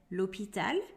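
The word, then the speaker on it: l'hôpital: infamous ones h ash the letter ash is silent in french so we do not say los pitalo hot dog hotel horror lehariko but we say l'hopital a dog the letter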